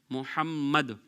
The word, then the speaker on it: محمد: میں رکھیے گا کہ یہاں پر جو میم ہے اس کے اوپر تشدید ہے، محمد، اس طریقے سے یہ نام پروناؤنس کیا جائے گا۔ انگلش اسپیلنگ کے حوالے